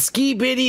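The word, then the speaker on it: Skibidi: ski bitty toilet and ski bitty is spelled like s k i b i d i space toilet ski bitty toilet and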